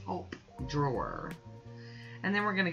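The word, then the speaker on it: Taupe Drawer: And this last one is called Top Drawer, but it's spelt like top, you know, T-A-U-P-E, Top Drawer.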